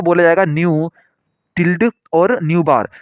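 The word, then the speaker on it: ν̄: अब इसके बाद में यहाँ पे एक नोट दे रखा है, wave number is pronounced as न्यू बार। न्यू बार इसे पढ़ा जाता है।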